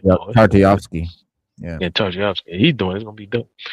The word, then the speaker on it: Tartakovsky: The Russian name, I can't pronounce it. Stoyevsky. Yeah, it should be dope though if he's doing it. Tartakovsky.